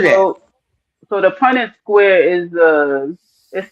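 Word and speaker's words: Punnett: Punet Punet square. Um is P U N E T. Oh, I never heard of that. So So the Punet square is it says the Punet square is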